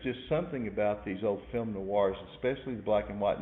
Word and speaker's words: film noir: pronounced fem noise but film noir you've the r is in there you've seen film noir